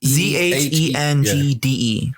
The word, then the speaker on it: Zhengde: XIN or ZIN? It's ZHENGDE. All right.